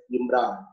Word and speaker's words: IMRAD: discussion, all in one, typically pronounced as IMRA.